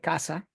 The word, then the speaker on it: CAZA: Casa in Spanish. That's how it's pronounced, casa.